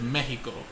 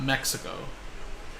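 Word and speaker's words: México: do Spanish now but the proper way to say it is Mexico you know not Mexico you know so I try to incorporate the way you're supposed to say it with the accent okay so my first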